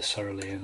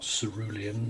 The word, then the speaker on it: cerulean: And we have the cerulean at the bottom, or cerulean, depending on how you want to pronounce it.